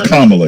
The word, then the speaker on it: Kamala: back to camelot or come well apparently it's kamala yes yeah um i think i was pretty close to pronouncing it correctly all these yeah i got